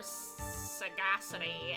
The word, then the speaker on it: sagacity: Kevin spicy CC founder soft G like Sage okay so s s Sage sages sity sity sagacity an unusual death what